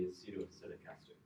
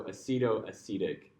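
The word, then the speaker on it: acetoacetic: It's it's I think it should be pronounced the same way as acetic acid. So, acceto acetic.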